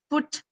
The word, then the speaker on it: foot: Now foot, we write it as f o t, but then it's pronounced as foot with a small ooh sound, right?